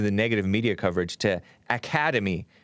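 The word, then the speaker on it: Academi: maybe because of the negative media coverage to academy it's spelled a-c-a-d-e-m-i so i want to say academy but it's really academy pronounced academy his sister eric prince his who's the founder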